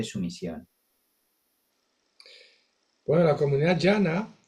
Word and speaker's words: Dhyana: Bueno, la comunidad llana, que el nombre es sánscrito, llana, que se escribe así, la transliteración fonética, pero esa es la pronunciación, digamos, sánscrita original, eh, que hace referencia